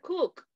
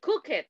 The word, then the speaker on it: cook: Hey, we have some problems with the verb cook, cocinar. You say cook it. No, cook it is wrong. The correct pronunciation is cook.